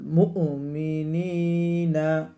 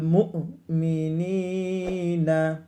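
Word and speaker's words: المؤمنين: মুহাম্মাদিন রাসূলিকা প্রথমে শুনেন আলাল মুমিনিনা মিম হামজা পেশ অনেকেই উচ্চারণ করতে পারেন না খেয়াল করে উচ্চারণ করুন আলাল মুমিনিনা ওয়াল মুমিনা প্রিয়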